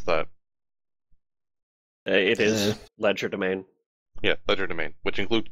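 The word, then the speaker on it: legerdemain: have Focus the leder domain or however you pronounce that it is ledger domain yeah Ledger domain which includes picking blocks so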